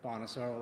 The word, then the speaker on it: Bonasoro: My name is Detective Lieutenant Bonosaur. Last is spelled B O N A S O R O.